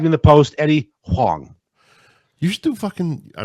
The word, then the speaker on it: Huang: Pronounced Huang.